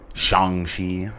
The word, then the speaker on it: Shang-Chi: Shang-Chi. I mean, it might be how it's pronounced, but everybody's been saying Shang as long as I've been alive.